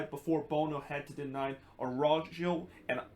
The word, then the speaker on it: Araujo: to deny Araujo, and I believe that that's how you pronounce his name and not Araujo as the Spanish pronunciation. He's actually Brazilian, so I guess that's how you pronounce it in Portuguese instead of how you're pronouncing it in Spanish.